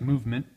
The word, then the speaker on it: MVMT: The company's name is MVMT, pronounced as movement.